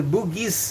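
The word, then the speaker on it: Bugis: it was not that it was not boogy man it's the boogis man you know so but the preans couldn't pronounce boogis you know so uh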